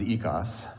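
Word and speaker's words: οἶκος: When you combine oikos, which the Greek pronounces ekos, when you combine oikos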